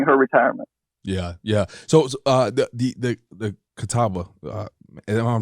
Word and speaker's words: Catawba: So the Catawba, am I pronouncing that correct?